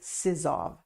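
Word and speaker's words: Sizov: and over and over his name is Robert a sizzov I think I pronounced that right it's s-i-z-o-v and I will put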